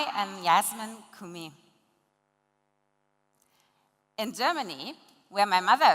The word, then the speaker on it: Kumi: am YASMIN KUMI. In Germany, where my mother is from, my surname is pronounced KUMI.